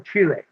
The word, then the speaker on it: Chile: Okay, gotta pronounce that right. Central Chile.